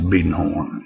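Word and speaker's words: Biedenharn: Monroe and two companies the family is the beaden horn family and it's spelled like Biden Horn uh but around here is pronounced beaten horn and U uh the story is originates with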